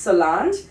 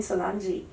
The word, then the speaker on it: Solange: So my exact name my correct name is Solange but in Sri Lanka people call me Solangei.